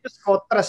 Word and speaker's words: Schoters: dari skuter ya bacanya gimana sih Bener ya bacanya skotras ya Karena kan dia mau berangkat sementara itu